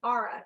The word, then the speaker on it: Ara: skyline um they Associated it with the constellation Aura it's spelled ARA if you want to look up